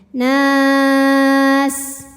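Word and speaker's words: الناس: Jika berhenti di nun boleh panjang 2, 4 atau 6 harokat asal konsisten dalam 1 kali bacaan. Nas. Oke, tadi ini kalau berhenti mad arid li sukun. Kalau terus na-nya ini hukumnya cukup mad tabi'i saja. Karena ada alif didahului fathah dan depannya tidak disukunkan. Maka kalau tidak berhenti na-nya ini panjangkan 2 saja ya.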